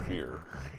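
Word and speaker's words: Feyr: Yeah, this is called a greater fear. F-E-Y-R. But the manual does confirm it's pronounced fear.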